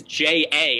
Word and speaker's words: J.A.: Whose name is J.A. and it's pronounced J.